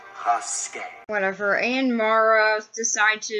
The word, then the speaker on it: Rasket: It's pronounced Rasket.